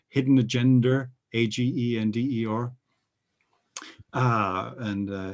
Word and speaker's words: agender: of the atlantic because our pronunciation of a g e and e or is agenda right so that's that's where